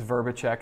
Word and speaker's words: Vrbicek: and last name but my last name is verbachek and no one can spell it so fan and flame is is also